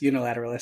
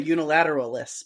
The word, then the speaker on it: unilateralis: affiliate corti opio corticeps unilateralist okay or unilateralism unilateral see i always say unilateralists but unilateralis is how yes pronounces it and so it's probably correct ophiocortics i can say